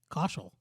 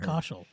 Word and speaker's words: Kaushal: Kaushal. I'm fucking stupid. That's how they say it. It's not hard. Kaushal.